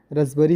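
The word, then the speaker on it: raspberry: पी आया ना, उच्चारण नहीं हो रहा उसका। रसबरी, पी आया है, रसबरी ही पढ़ते हैं उसको हम।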